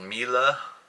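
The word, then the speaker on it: Miele: he's pronounced this wrong I think it's called Mila looks like Melee m-i-e-l-e it's I believe a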